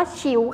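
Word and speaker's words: 球: ฟัง ได้ นะ คะ คำ นี้ อ่าน ว่า ฉิว ค่ะ ฉิว แปล ว่า ลูก บอล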